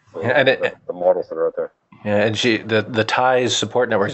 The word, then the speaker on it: Tyze: Yeah, and the TIES support networks. The TIES is spelled TYZE.